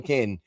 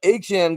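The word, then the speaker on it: Achane: Aan, I always want to call him McCain, but Achan got it done, man.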